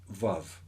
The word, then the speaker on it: Vav: way in, that's the Vav, or really it's pronounced with a W in ancient Hebrew.